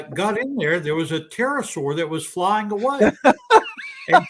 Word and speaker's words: pterosaur: And when I got in there was a pterosaur that was flying away. And so Ms. McQueen asked me, well, why didn't you hear it earlier? And I said, well, the P is silent.